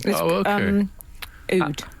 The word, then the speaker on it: oud: d oh okay um oud how is it oud yes cuz you're so poetry I thought you were saying o d e OD OD to W in the